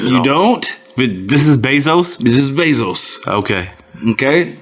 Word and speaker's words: Bezos: don't but this is bezos this is basils okay okay mesos here the basil's got money get base bezosis rhymes with moses yes you i know